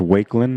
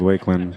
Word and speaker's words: Wakeland: You believe it's pronounced Wakeland? Okay, I'm going to go with Wakeland. Thank you, Steve.